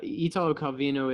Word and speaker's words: Italo Calvino: your interests are and i'm gonna try to pronounce everything correctly um uh italio calvino is that correct yeah last name calvino yeah italo calvino is uh yeah he's in it he was